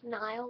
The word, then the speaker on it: Niall: Niall like Mile, Zane like Rain, Harry like Darren, Chris, Chess, Louis, the S is silent, Louis, Liam, duh.